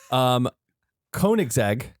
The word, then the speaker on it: Koenigsegg: Koenigsegg.